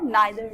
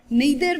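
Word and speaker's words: neither: Pronunciation जो है इसकी ईदर भी ठीक है और आइदर भी ठीक है, नीदर भी ठीक है और नाइदर भी ठीक है. तो both of द pronunciation are correct.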